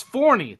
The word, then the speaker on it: Forney: Is it Forney or Forney? It's Forney, the place for professional wrestling, which There is we what go. the Crockett Cup is, if you did not know. Forney, Texas.